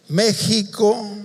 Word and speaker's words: México: México, decimos México, pero también se escribe México.